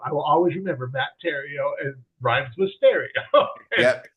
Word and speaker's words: Theriault: I always say yeah everything is silent every letter is silent but it's it's Tero rhymes with stereo oh interesting yeah Ariel